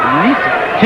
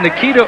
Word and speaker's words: Ncita: red trunks welcome Nita don't be fooled by the spelling it's NCI but it is pronounced Nita yeah I went through